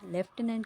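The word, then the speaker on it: lieutenant: है वो है लेफ्टिनेंट लेफ्टिनेंट की स्पेलिंग जो है हमें ज्यादातर लगता है कि एफ वाली होती है बट लेफ्टिनेंट की जो फर्स्ट वाली स्पेलिंग है वही सही है एल आई ई यू टी ई एन ए एन टी ठीक है यह भी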